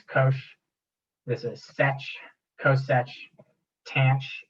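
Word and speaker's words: cosh: this is cinch right hyperbolic sign is pronounced cinch hyperbolic cosine is Kos this is set coet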